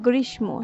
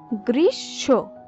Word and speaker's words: গ্রীষ্ম: আমরা বেশিরভাগ সময় বলে থাকি গ্রীষ্ম, যেহেতু মধ্যাহ্ন স এবং ম একসঙ্গে যুক্তাক্ষর অবস্থায় আছে, কিন্তু এর সঠিক উচ্চারণ হবে গ্রীষ্ম। এই হিসাবে এরপর সন্ন্যাস, সন্ন্যাস শব্দের সঠিক উচ্চারণ হবে সন্ন্যাস।